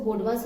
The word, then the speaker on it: BODMAS: अब आपको ये वेनिकुलम, हम वी तो साइलेंट होता है, हम इसको बोडमास रूल बोलेंगे।